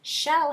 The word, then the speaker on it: shell: need a bonus letter you said yes you are correct shell has two L's shell it's one syllable the vowel is making its short sound and it ends in the letter L so it gets a bonus second L shell great job now we